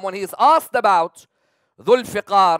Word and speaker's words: Zulfiqar: Imam al-Baqir alayhi salam, when he is asked about Zulfiqar, or sometimes people pronounce it as Dalfiqar or Zulfaqar, Imam al-Baqir was asked,